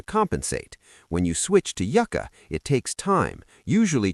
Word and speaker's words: yucca: Also, don't confuse yucka with yuka. Yuka, spelled with one C, is cassava, a starchy root vegetable used in cooking.